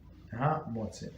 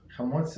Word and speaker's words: Hamotzi: One should recite the blessing with concentration and be meticulous in pronounce well. The letter Hey in the word Hamotzi. Okay. Hamotzi.